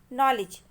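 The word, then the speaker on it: knowledge: नॉलेज. नॉलेज में हमको 2 letter silent समझ में आ रहे हैं, एक है के और दूसरा है डी, तो नॉलेज.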